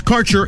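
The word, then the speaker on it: Kaercher: Quality cannabis Insurance Services is spelled k a e r c h e r that's carer insurance we have worked with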